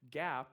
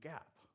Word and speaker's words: GAAP: So Gap is not the clothing store. For those of you that remember that, the GAP, it's spelled G-A-A-P.